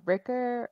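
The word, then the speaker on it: Rikke: that it rhymes with rhymes with pricker right is that what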